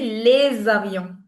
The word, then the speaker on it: les avions: So, it's going to be les avions. Les avions. So, when s connects with any vowel, the sound it produces is that of z.